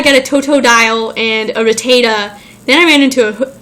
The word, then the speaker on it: Rattata: ran into Rattata, which I now know is pronounced Rattata. I used to think it was Rattata.